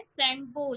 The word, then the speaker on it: Tsangpo: रख दिया गया है सैंगपो, जिसमें टी साइलेंस है आपका। इसकी भले ही स्पेलिंग में टी यूज किया है, बट आपको पढ़ने में टी सैंगपो नहीं पढ़ना है, आपको सैंगपो पढ़ना है।